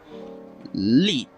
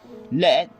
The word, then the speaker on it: lead: Lead rhymes with mean, which means to guide. Lead rhymes with the word red, an element of plumbum.